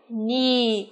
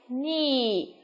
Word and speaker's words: knee: một cái nhóm từ mà có âm k, là âm câm đúng không? Đó. Chúng ta phát âm nào. A chúng ta có từ nhì, ok.